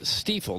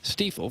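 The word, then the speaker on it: Stifel: because they've been around forever and it is pronounced steifel there's been some confusion about that it's definitely steel founded in downtown St Louis in 1890 still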